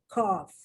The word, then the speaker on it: cough: thing we're looking at is the gh cough you see the g8 stair is not soldering so much as it takes on a different uh sound totally different it imitates the sound of the f cough trough rough we're talking